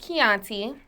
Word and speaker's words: Kianti: said in this interview my name is pronounced Chianti um you got to